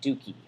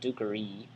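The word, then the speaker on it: duci: is to lead but dukie since duke ray has a short e then it's in it's passive infinite it becomes dukey okay because that e is weak and kind of goes off so not dukkhari dookie she had heard that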